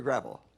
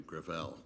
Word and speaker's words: Gravel: thank you uh senator gravel with all due respect let me correct uh i pronounce it within my family gravel it's a french name thank you uh i